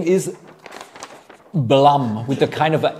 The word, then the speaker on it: Blum: pronunciation the name is Blum with a kind of a a Blum as in Plum like PL Plum or